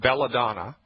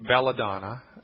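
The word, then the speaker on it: belladonna: Foods or any health food store it's called belladon that's home apathic belladon B like Baby E L L A D like David O N N A belladon get it in the 30C strength C like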